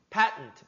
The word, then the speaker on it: patent: Patent, 발음 어렵지? 패턴트 아니라 발음이 patent 이렇게 발음해.